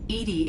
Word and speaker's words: EDI: are you named edie edie is the phonetic pronunciation of edi that is an acronym for enhanced defense intelligence where are you my